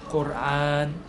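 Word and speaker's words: القرآن: 이것도 사실 영어권 발음에서 온 거예요. 영어에서 이제 뭐 코란, 쿠란 이렇게 하는데요. 사실 아랍어로는 꼬르안이에요. 꼬르안.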